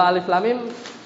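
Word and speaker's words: ألم: kita barusan karena nanti bacanya Alif la panjang panjang m ya makud kan lam itu kan lam lam lam lam ini tu dij baca lam kemudian masuk Mimi ada gunah ada ya panjang mim jadi bacanya Al Alif Lam Mim gitu ya itu yang kadang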